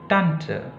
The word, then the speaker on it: Tante: Kemudian tante, bukan tante. Jadi penekanannya di tant, di tant.